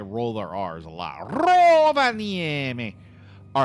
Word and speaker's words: Rovaniemi: at the weather in Rovaniemi. That's how you say it. Rovaniemi. Let me see. The Finns, they do roll their R's. I really don't think you say it as Rovaniemi, but it wouldn't surprise me.